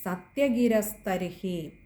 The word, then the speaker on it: സത്യഗിരസ്തർഹി: പിന്നെ അടുത്തത് യദി സത്യഗിരസ്തർഹി, അവിടെ ഇർ എന്നുള്ളത് രകാരം കൊടുത്ത് വായിക്കുക. റായുടെ ഒരു ഉച്ചാരണം വേണ്ട, രായാണ്, സ്തർഹിയാണ് എന്ന് ഗുരുക്കന്മാർ പറയാറുണ്ട്.